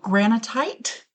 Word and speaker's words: granitite: Granitite. Oh, okay. It's like granite, but with an extra T.